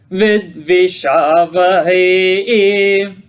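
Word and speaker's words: vidviṣāvahai: Tejasvina vadhitamastu ma vidvishavahai. Notice the word vidvishavahai. Vid is Udata. V is Swarita. Sha is Anudata, and Hai is Dirgha Swarita. Vidvishavahe.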